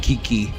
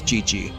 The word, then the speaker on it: Qiqi: It's spelled Q I Q I like Kiki, but it's ChiChi.